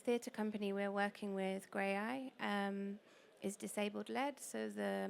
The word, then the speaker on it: Graeae: So I would say Grey Eye are it's spelled Graeae.